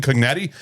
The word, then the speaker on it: Cognetti: Yes, Hell House, released November 1st, 2015, directed by Stephen Cognetti.